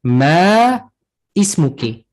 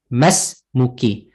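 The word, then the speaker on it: ما اسمكِ: Just get the word ma ismuki, or more correctly pronounced as masmuki.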